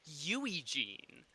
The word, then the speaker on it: Eugene: It's actually Yui Jean.